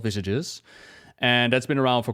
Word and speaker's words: visage: Like visages have been around for quite a while, even though I pronounced it as visage at the beginning. Apparently it's called visages.